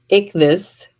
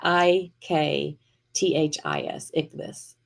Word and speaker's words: ichthus: It's called a ichthus. Ick this. Look right here. We have it written right here. I had to look it up. I don't know how to I did not know how to say it.